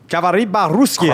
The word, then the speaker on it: Говори по-русски: Gavari ba-Ruskia.